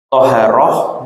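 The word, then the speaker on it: طَهارة: thaharah dengan fathah huruf thnya dibaca thaharah itu lghatan secara bahasa adalah annadfatu yaitu kebersihan ya.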